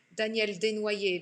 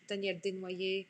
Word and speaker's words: Daniel Desnoyers: Daniel Desnoyers, because that's how your name is pronounced in French. Daniel Desnoyers, I'm glad you learned a lot.